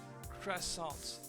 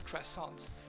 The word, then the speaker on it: croissant: And croissant. I know everybody says croissant because they think that we pronounce everything in French. But no, we don't. The last T is silent.